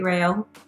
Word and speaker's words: Rao: It can be Rao. It can be Rao.